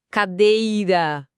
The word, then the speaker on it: cadeira: E com cadeira, cadeira, o day que se estica, paroxítona.